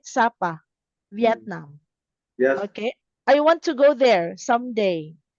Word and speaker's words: Sapa: Did I pronounce it right? Sapa, Vietnam.